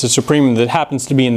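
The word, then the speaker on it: supremum: because there's only one supreum of a exists we call it sup a okay and that's a long u right as in supreum which comes from Latin Likewise, if a has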